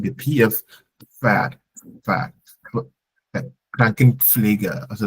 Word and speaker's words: Pferd: Das Pferd, like the PF Pferd.